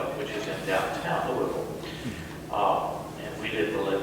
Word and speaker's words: Louisville: chris eggleton i was born in louisville kentucky that's the right way to say it too there's all kinds of variations okay but uh i was my